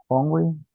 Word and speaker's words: hungry: pronunciaría Esa esa palabra si la H sí tiene un sonido como de J hungry hungry correcto verdad entonces he is